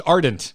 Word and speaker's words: Ardent: Oh, it's Ardent. We've been saying it wrong the whole time. Ardent Defender. Oh, I've been throwing, yeah. Well, you know. Yes. D, not G.